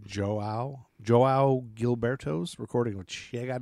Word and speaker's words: João: J-O-A-O. And A's got a squiggly line. How do you pronounce that? Oh, God. I would have looked that one up. Joao.